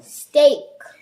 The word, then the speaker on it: steak: Our next word is steak. Good job. Here we have the same thing as in break.